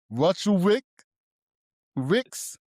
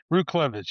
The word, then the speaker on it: Ruchlewicz: Roots Cleavage. Root Clevage. Yep. Sounds great. Okay, got it. So, the W is pronounced with a V.